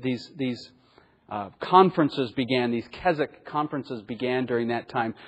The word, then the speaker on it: Keswick: begun during his day the Kazik often often pronounced Keswick it's spelled Keswick but it's actually kazakh the Kazakh movement was very prominent in those